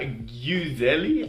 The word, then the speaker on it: Gjyzeli: The artist they chose is called Viola Gjyzeli. I think you pronounce the Y as a U, kind of.